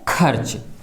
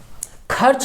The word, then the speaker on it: खर्च: जैसे देखिए शब्द है खर्च खर्च शब्द बोलने पर ख र च ठीक है ख के बाद आधे रा की ध्वन निकलती है तो रेफ की मात्रा